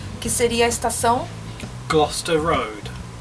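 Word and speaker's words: Gloucester Road: estação gloster Road e um erro muito comum que eu escuto muito até eu mesmo fazia esse erro que seria lendo a palavra literalmente pronunciando do jeito que nós lemos né que muitas pessoas falam glester ro e não é glester não existe é gloster ro e Uma Outra Estação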